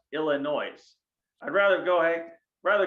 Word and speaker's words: Illinois: i'm like mom for the last time it's pronounced illinois i'd rather go hey rather go to iowa